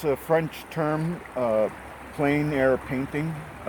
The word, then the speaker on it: plein air: outdoors it's called it's a french term uh plain air painting it's spelled p l e i n a r i'm sorry a i r e and um it just means painting outdoors in plein air um and when you chose this location today